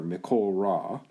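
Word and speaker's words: מכל רע: and the uh uh make that joins these two words means you you slur them together mikhol rah so you you reduce this to a short o comet sawtooth yahweh will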